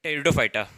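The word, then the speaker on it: Pteridophyta: Division 3 टेरिडोफाइटा, इसमें पे silent रहता है इसलिए इसको बोलते हैं टेरिडोफाइटा।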